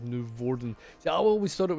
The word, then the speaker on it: Noevorden: So if I want to pronounce it Dutch way, you should stress on the first syllable of Noevorden. See, I always thought it was like Noevorden, like that.